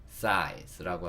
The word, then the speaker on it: size: 마지막으로 진짜 오는 요 E는요, 소리가 안 나는 경우가 거의 대부분입니다. 이렇게 소리가 안 나는 거를 묵음이라고 하죠. 써있긴 하지만 읽지 않아요. E는 묵음입니다. 그래서 사이, 즈라고 하겠죠. size라고 하고요.